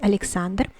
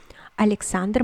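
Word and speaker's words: Александр: it is pronounced as alexander alexander mind that the l is softened here because it it is followed by the vowel em so it is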